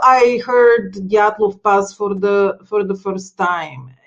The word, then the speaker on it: Dyatlov: So that's how I heard Dyatlov Pass for the first time.